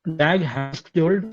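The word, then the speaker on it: Dag Hammarskjöld: आगे है डैग हैम्सक्योल्ड, स्पेलिंग देख लो, DAHAMMARSKJOLD।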